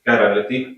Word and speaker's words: chirality: So this is Greek, it means hand, and in English you say carality, you spell it like it. CH. Carality.